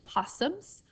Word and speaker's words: opossums: where it looks like it says opossums but the O is silent that words actually possums river otters beavers deer